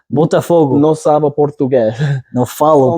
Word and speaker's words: Botafogo: Sava on his way to Brazil, and I'm going to butcher the name. It's Botafogo. Botafogo. Botafogo.